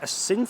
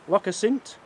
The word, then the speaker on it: Assynt: Loch Assynt? Have I said that right? Assynt. I said it 3 times. It's still making me sound as if I'm saying it wrong. I'm not. Loch Assynt down there.